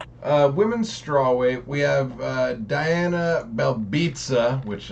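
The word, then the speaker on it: Belbiţă: Now, I want to keep pushing because this next fight, women's strawweight, we have Diana Belbitsa, which I love how you say her name like pizza, you know what I mean?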